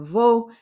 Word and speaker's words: vos: So we have vos sœurs, your sisters. Now remember, the S's don't get pronounced on vos and nos unless they're followed by a vowel.